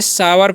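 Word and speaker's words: sour: और SOU है, तो इसे हम क्या पढ़ते हैं, सावर पढ़ते हैं, यहाँ पर भी ओ यू है, तो ओ का उच्चारण आओ हो रहा है, ठीक है।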